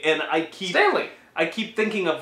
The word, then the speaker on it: Stanley: See, and Stan Lee, that's how you keep saying it.